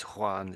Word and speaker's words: Juan: So it looks like a J but a lot of people say I suppose and and Juan here that's there in English looks like Jane maybe but it's Juan isn't I think that's